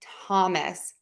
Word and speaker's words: Thomas: spell the T sound with a th like in the word time or in Thomas we have another homophone